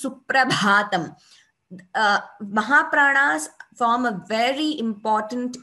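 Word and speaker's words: Suprabhātam: So when we say Shri Venkateshwara Suprabhatam, Bha is Mahaprana. So it is wrong to say Suprabhatam. It is Suprabhatam.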